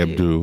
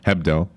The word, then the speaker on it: Hebdo: what was it Abdu Charlie Abdu is how they say it or Charlie HEB hebdo if you americanize it so he he